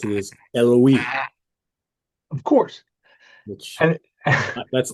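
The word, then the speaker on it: Eluveitie: I think the correct way to pronounce it is Eloise, Of course.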